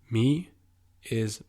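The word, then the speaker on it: mig: same pattern as before me is Mei Mei now observant like you are you probably noticed that the pronunciation of the word doesn't really make sense with how it's spelt and it simply has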